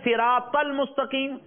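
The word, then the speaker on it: صراط: So here siratal mustaqim, siratal ladina. Both these are wrong. So correct pronunciation is Ihdinas siratal mustaqim siratal ladina.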